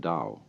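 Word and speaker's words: 道: word Dao you know that's spelled Tao I don't know why because it's usually pronounced Dao and the da means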